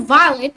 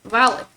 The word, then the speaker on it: violet: So violet in French we pronounce it as violet, like violet, but I see people pronouncing it as violet, like violet, like just like in English, violet. But no, you gotta pronounce it as violet. Because why? Because the T becomes silent, so that's why we pronounce it as violet.